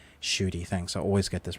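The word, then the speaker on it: Ncuti: How do you pronounce his name? Shooty, thanks.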